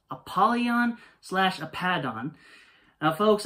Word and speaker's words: Apollyon: fallen angel now once again this is correctly pronounced apollyon slash a pad on folks I've never heard